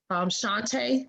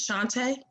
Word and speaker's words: Shantae: Shantae? I hope I pronounced your name right. Is it Shantae? It's Shanta. Shanta, oh.